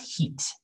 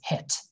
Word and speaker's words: hit: close to that so this is not heat that's turkish pronunciation heat right heat but in english it's hit all right why didn't